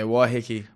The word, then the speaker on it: Waiheke: Yeah, Waiheke.